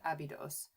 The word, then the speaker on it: Abydos: ever like okay so I would prefer to say it the way that the Egyptians say it which is abidos. So I will have to make an concentrated effort to unlearn how I pronounce it. Um, but really what should we should all be saying is Abedju because that's what the actual Egyptian name for the city is.